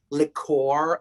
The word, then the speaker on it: liqueur: On the Food Network, they say like liqueur, like it's not liquor, because liquor is liquor, and then there's liqueur, which is the French thing, which is the aperitif thing, right? But they pronounce it liqueur. I never understand that, liqueur. It's not a word.